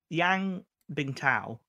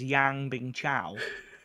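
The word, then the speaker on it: Yan Bingtao: think of when uh yang bing tao yes that's how you say it but rob walker says yang bing chow and i don't know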